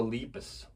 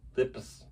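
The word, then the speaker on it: Lepus: Night of the Leapus. Lipus. How do you say it? Leapus.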